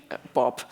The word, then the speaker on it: BOB: Um and for those who don't know how to pronounce that word, Bob, um yeah, thank you so much and I hope that you have some questions.